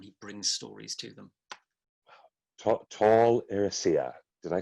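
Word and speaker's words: Tol Eressëa: associated with them he brings stories to them tall Rossio did I say it right you did but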